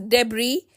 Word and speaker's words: debris: The word debris is actually pronounced as debris, where S remains silent.